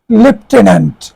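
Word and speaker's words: lieutenant: লেটেন্ট লেটে এখানে শব্দটির উচ্চারণ হবে লেফটেনন্ট।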